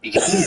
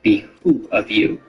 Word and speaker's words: behoove: When giving direction, a drill instructor may remind recruits that it would behoove you to listen closely, which is also frequently mispronounced or typed in written orders as it would be who of you.